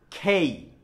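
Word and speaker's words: K: খেই, খেই, খেই, মনে থাকবে?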